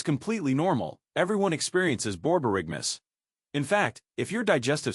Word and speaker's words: borborygmus: Scientists have a special name for stomach growling, borborygmus, pronounced borborygmus.